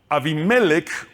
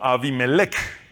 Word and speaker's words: Abimelec: Su concubina, que vivía en Siquen, también le dio un hijo a quien Gedeón llamó Abimelek, que también se puede ah decir o pronunciar como Abimelec.